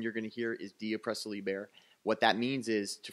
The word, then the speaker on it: De Oppresso Liber: The Green Beret motto in Latin is pronounced De Oppresso Liber.